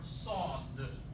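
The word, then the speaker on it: صاد: For sod. This is the name of the letter. The sound it makes is this S in C, saw, or this S in saw.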